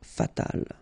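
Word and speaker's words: fatale: So, general masculine, general feminina, and then fatal feminine form, you just add this final, but then phonetically it's the same fatal.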